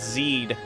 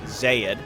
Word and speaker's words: Xayid: I've seen zyyd again they used to be called Zeid or I was just pronouncing it incorrectly but now it's now it is Zaid so building the zaiah